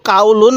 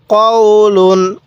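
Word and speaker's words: قَوْلٌ: পেশ লুন কাউলুন কাউলুন কেউ কাউলুন পড়বেন না এবং টানও দিবেন না আমি যেখানে টান দিতে বলবো আপনি সেখানেই শুধু টান দিবেন এছাড়া আপনি টান দিবেন না তাহলে কলা কওলুন এরপরে কাফ আলিফ জবর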